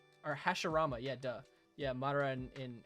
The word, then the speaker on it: Hashirama: If I watched Naruto, yeah, Madara and is it Hirashima? I forgot how you pronounce his name. Or Hashirama, yeah, duh.